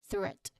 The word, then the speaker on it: threat: That's the th sound. So this is threat. So that's how you say it. Well, if you want to really know how to properly say the th sound, you might want to put your tongue lightly between your upper and lower teeth and, you know, just gently blow the air out.